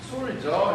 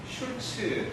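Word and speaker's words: Sulzer: 술저 해도 되고 술저 발음을 길게 해도 되고요. 슐처 해도 돼요. 원래 이제 슐츠 독일식 발음은 슐츠에 어가 붙어 있는 거예요.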